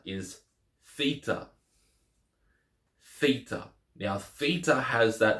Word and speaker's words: theta: in this and that Theta has the th sound as in Throne or thin Theta so Zeta EA